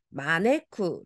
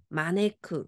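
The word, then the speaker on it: 招く: 붙어 있고요 앞에 미나상 부르다 뜻으로 읽으실 때는 마네쿠 읽어 주시고요 초라고 음으로 읽어 주실 때는 쇼 장음으로가 주셔야 됩니다 자 그러면 가보겠습니다 하이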